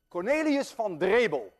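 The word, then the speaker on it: Cornelis Drebbel: Cornelius van Drebel, and I know how to pronounce that name because I'm Dutch.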